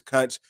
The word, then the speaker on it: Kunch: channel name's Kunch, but my name is Kunch. Great to see y'all. That's short for country, by the way, but I just want to make sure y'all knew how to pronounce it.